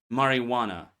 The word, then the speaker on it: marijuana: The only common silent J in English is marijuana. Marijuana. J almost always keeps its sound. So only one word, marijuana.